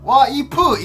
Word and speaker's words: 와이프: So basically we made a one-syllable word of wife into three-syllable word 와이프 in Korean.